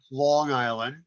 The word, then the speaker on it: Long Island: here on long island not long island like everyone thinks long island not a hard g and uh and uh